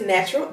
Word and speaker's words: Knatural: so her name is natural and the k is silent and that's what any